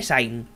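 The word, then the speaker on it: Sein: regresando soy 62 años supondría que se pronuncian alemán así que diré sainz la luz en los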